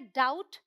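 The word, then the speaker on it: doubt: यहाँ मैंने आपको बताया कि ये डेप्ट नहीं है, डेट है। ये है डाउट, और ये सबटल नहीं है, ये है सटल।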